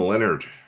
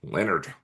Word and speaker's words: Leonhard: Um, so Jim Leonard, Leonard, Leonhard is how it's spelled. Um, which is strange, but I assume it's Leonard.